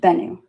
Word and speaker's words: Bennu: Bennu, pronounced Bennu.